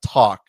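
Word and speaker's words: Tack: I think it's pronounced uh talk T A C K for those listening who can't uh can't see the screen.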